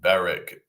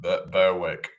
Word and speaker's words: Berwick: that you know um Beric instead of Berwick Berwick on Tweed Helen M. So yeah um I don't know why they just you know that why the W is silent.